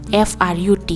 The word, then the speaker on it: fruit: fruit jene pronounce makhani fruit obo FROOT yapte hengnai ta I silence angnai do hinke fruit angnai ta FRUT fruit eba tifanong khata.